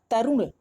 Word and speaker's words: तरुण: पेट में लगती हैं, तो इसमें हम जब उच्चारण करते हैं तो बोलते हैं क्या, तरुण। यानी र का उच्चारण जो मात्रा में ऊ हो रहा है वो जल्दी से हो